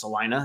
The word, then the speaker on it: Salina: And I saw people saying it's pronounced Salina instead of Salina, but either way, shout out to the Bulldogs back.